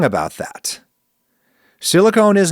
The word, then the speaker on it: silicone: The difference is the silent E at the end of silicone that tells you to make a long O sound instead of a short one.